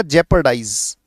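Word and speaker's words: jeopardize: में प्रचार प्रसार करना यह पढ़ा जाएगा जेपर डाइज ज पर डाइज यह उच्चारण है बेटा इसका जपर डाइज इसका मतलब होता है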